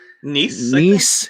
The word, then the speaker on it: Nice: In how do you say the town is like Nice? Yeah, it's like nice, but it's Nice.